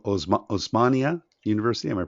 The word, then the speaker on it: Osmania: went on to is it omaz o OS osmania University am I pronouncing that correctly yes that's it's actually the